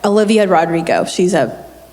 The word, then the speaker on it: Olivia Rodrigo: Olivia Rodrigo.